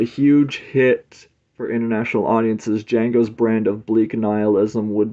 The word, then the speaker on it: Django: cover art for the Jango sleeve for the reversible cover um the D is silent a legend is born